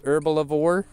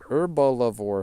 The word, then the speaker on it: Herblore: like he'll say he he always says herbal lavore he said a a very a very four syllable word herbal lavore herbal lavore like oh are you training herbal lavore right now yeah I just leveled up my herbal lavore to level 62 I'm like herbalore huh okay oh I'm not